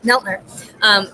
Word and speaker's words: Neltner: And you have a really, and I'm going to also introduce, so you pronounce it Neltner. Neltner, with the Environmental Defense Fund, which I've known